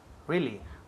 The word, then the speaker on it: really: Really. Muy bien. Really, really. Y énfasis en la primera sílaba.